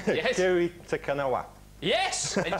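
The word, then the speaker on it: Kiri Te Kanawa: Kiri Takanawa.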